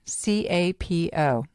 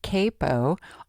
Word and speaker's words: capo: That funny-looking device is a capo, C-A-P-O. It's generally pronounced capo, although way back when I was learning to play guitar, my instructor, who was from England, pronounced it capo.